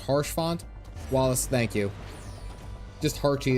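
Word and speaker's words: Haurchefant: I'm over here and then I'm away is pronounced harsh font Wallace thank you just hary is fine I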